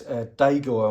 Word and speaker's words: DAGOR: the good thing about the Polaris deor I'm going to call it because it is spelled d a g o r and I don't think you have a dagger well we normally have an e in it but I'm from the West mids so what do I